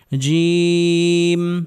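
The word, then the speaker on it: جيم: জিম জিম জিম উচ্চারণ হবে জিহবার মধ্যখান উপরের তালো সঙ্গে লাগিয়ে জিম জিম জিম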